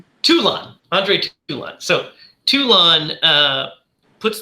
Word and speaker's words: Toulon: And he, and then runs in and, Talon, how do you pronounce his last name? Andre Talon, right? You're doing good. It's Toulon.